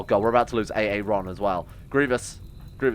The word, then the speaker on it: Aaron: there in time goodbye ay-ay-ron right ignore excuse me streamer it's pronounced uh Aaron yeah I'm well aware thank you but hey Ron sounds a bit more Star Wars huh oh my god